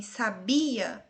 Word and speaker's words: sabia: A sílaba tônica em sabia é bi, sabia.